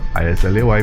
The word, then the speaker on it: Islay: Patrick himself brought distillation to Ireland, and then sometime after that there was a wedding on Islay, the island of Islay, I-S-L-A-Y, pronounced Islay.